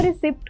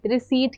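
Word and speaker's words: receipt: और रिसिप्ट को रिसिप्ट ही तो कहते हैं ना? नहीं, रिसीट कहते हैं।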